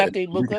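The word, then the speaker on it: Emeka Egbuka: Yeah, and Emeka Ibuka, Mika.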